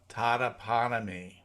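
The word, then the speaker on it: Totopotomoy: And you'll like this, is that Unan says, the last O in Totoponomy Creek is silent. It is pronounced Totoponomy.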